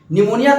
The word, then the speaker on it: pneumonia: का स्पेलिंग में दिक्कत हो जाता है कभी-कभी निमोनिया का स्पेलिंग थोड़ा देख लेते हैं हां निमोनिया का